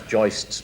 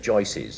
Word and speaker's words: joists: I love the way you said you actually pronounce joists properly, because good builders always say joices.